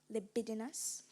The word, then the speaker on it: libidinous: People claimed to have observed a libidinous behavior in the rapist. Am I pronouncing it correctly? Libidinous.